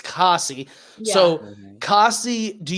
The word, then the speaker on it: Cassie: not Casey. It's Cassie.